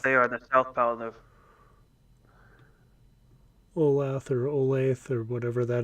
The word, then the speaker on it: Olathe: said, we stopped there on the southbound of Olath or Olathe or whatever that is. Olathe. Yeah. When I stopped there, I didn't call it by name because I couldn't pronounce it.